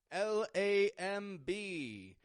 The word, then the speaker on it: lamb: animal of the Lamb l a m b notice I'm not pronouncing the B at the end of the word lamb I'm just making the